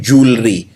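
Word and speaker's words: jewellery: वैसे इसको लिखते हैं ज्वेलरी, लेकिन बोलते हैं जूलरी। अंग्रेजी में इसको जूलरी बोला जाता है, यानी गहने, यानी जेवर।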